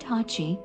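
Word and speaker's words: 八: resembled the Kenji that represents the number 8 which in Japanese is pronounced Hachi so he decided to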